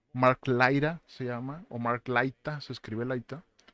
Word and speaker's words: Laita: de yorogan con Mark laira se llama omark laita se escribe laita y este este podcast me interesó